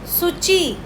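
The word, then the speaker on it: 土: हम बोलते हैं सची जब मैं सूची बोल रही हूं तो वह जो सु में यूज कर रही ह इट मतलब जिसको मैं बोलती हूं टी एस यू तो एक्चुअली मैं इसको प्रोनाउंस कर रही हूं सूची सुची सची का मतलब होता है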